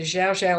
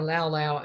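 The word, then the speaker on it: Llao Llao: It's spelled L-L-A-O, and it's the Xiao Xiao or Lao Lao, depending on how you want to say it.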